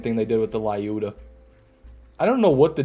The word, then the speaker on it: Lyuda: a YouTube short and I say Lyuda, I always get comments that are like, why does he say it wrong? It's not Lyuda. And I'm just like, that's what it is, man. How do they say it? Numerous ways. Some people say Lyudamila. Some people say Elyuda.